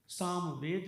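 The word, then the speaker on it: psalm: हैं और हमारे यहां सामवेद है पी एस ए एल एम साम का उच्चारण लेकिन साम करेंगे और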